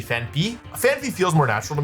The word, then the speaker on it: Phanpy: I always called this Phanpy. Like, I always thought it was Phanpy, but it's actually Phanpy.